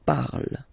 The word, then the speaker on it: parle: And then the way to pronounce it is je parle, parle. So remember, we put it, okay, but then we don't really pronounce it.